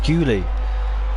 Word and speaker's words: Guli: It's Guli. Guli. I keep calling him Ghoul because I thought it was a double L.